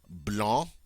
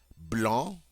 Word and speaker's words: blanc: the color for white blon in the masculine normally we pronounce final C's but not in this case all right Blan and but the feminine